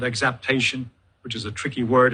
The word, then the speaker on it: exaptation: trail that is called exaptation, which is a tricky word. It's not pronounced exact. It has a P, not a C.